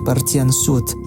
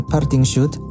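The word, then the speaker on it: Parthian shot: Hal ini kemudian dikenal sebagai Parthian Shoot. Dan ketika Anda mendengar ungkapan Parting Shoot, yang Anda dengar sebenarnya barangkali pengucapan keliru dari frase tembakan Parthia atau Parthian Shoot.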